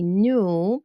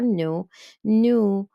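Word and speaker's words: nous: an S sound here when I when I pronounce it it's going to be new remember the S is silence for new and again the S silence at the end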